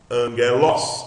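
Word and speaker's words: ἄγγελος: Não esqueça, acento sílaba forte é an. Não é an, porque isso é aspiração, é los. Então, angelos. É assim que você lê, ok?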